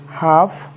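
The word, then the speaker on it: half: एल प हाफ sorry H ए एल एफ हाफ बी ई एच ए एल एफ बि हाफ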